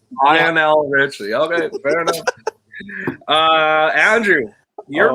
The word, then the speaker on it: Lionel Richie: What's the pronunciation? Lionel Richie. Lionel Richie.